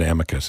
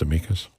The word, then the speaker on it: amicus: all these groups filing amikas briefs on behalf of the issue that they believe I always mispronounced it I called it Amicus it's amus I don't know I